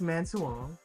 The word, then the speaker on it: Man Suang: so we just saw man Swang am I pronouncing it right it's manong manong manong and what did we